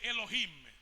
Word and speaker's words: Elohim: usam é Elohim, mas ela diz Eloquim, mas não se pronuncia Eloquim. Outro dia perguntei, mas prof, por que pronuncia Eloquim e não Elohim? Disse: porque nós os judeus temos muito cuidado em pronunciar o nome de Deus. Então na aula eu uso uma pronúncia próxima só para não falar a pronúncia verdadeira.